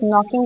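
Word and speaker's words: know: नो में silent words हैं. यस, नो में के इज साइलेंट.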